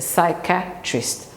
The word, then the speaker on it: psychiatrist: go see a secret it's a psychiatrist three syllables if you want to